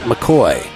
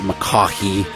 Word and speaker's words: McCaughey: My guest for episode 49 is Scott McCaughey. And yes, that is how it's pronounced. It's not McCaughey.